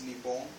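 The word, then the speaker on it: 日本: the Sea of Japan Japan pronounced in Japanese is neon Japan has the third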